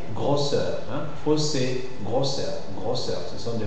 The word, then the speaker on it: grosseur: Et finalement, les mots dérivés des mots qui se terminent en O-2-S-E. Les mots qui se terminent en O-S-E, 2-S-E, et qui dérivent de ces mots, alors on les prononce aussi fermés. C'est le cas des fossé et grosseur.